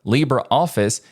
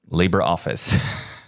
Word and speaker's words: LibreOffice: is Libre and just a quick side note Libra office is pronounced Libra not Libre I didn't know that